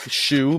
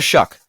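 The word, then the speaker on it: Shough: it's spelled weird and you want to say like shu but it's but it's like sh you know what I mean? Sh it. Yeah. Yeah. Yeah. So Tyler Shuck.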